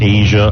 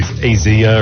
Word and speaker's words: Asia: I was pronouncing it Asia Argento. It's not pronounced Asia. It's some fancy way of saying Asia. It's spelled Asia. Right. Azia or something.